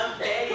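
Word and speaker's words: ampère: não tem nada demais falar amper também que é o que se usa no dia a dia provavelmente porque deriva do inglês inglês não não não se não se pronuncia esse e no final certo de qualquer forma se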